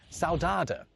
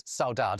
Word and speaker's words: saudade: Oxford English Dictionary is saudade. I've just said it in a terribly British way, but it's a Portuguese word pronounced like this in Portugal and this in Brazil.